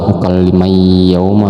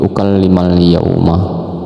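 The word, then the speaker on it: أكلم اليوم: Nah, jadi ukallimal yauma bukan ukallim yauma ya, tapi ukallimal yauma.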